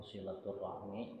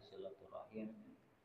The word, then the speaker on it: silaturahim: Selanjutnya lanjutan kalam Imam Ghazali dalam kitab Muqasyafatul Qulub, masih Bab yang ke-23 yaitu tentang silaturahim atau silaturahmi, yang ketika dibacanya silaturahim.